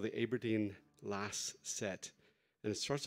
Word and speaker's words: Aberdeen: Well, she was actually born in Aberdeen, although she made me pronounce it correctly, which is Aberdeen. It's Aberdeen.